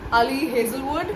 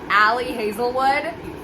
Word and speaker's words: Ali Hazelwood: This is by Ali Hazelwood. I know I'm pronouncing it right. All the American booktubers pronounce this Ali Hazelwood.